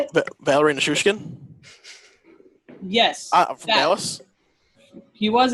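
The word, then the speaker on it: Valeri Nichushkin: Have you seen that one clip where I'm going to botch his name because, again, I can't pronounce names. Val Nichushkin? Is that how you say it? Valerie Nichushkin?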